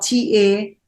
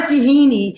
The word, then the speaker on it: Tahani: And Tahani is spelled Tahani. And it's not a tahini, because a lot of people, they think it's the sauce, the tahini sauce. So this is a tahani.